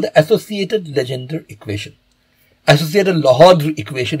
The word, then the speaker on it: Legendre: Associated Legendre equation, if you really want to pronounce the French name correctly, but we are not going to bother with that. We are going to call it Legendre.